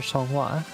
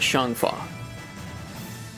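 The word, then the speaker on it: Xianghua: Like she is it pronounced Shan Fa or Shwa? Uh the in the game they pronounce it Shan Fa.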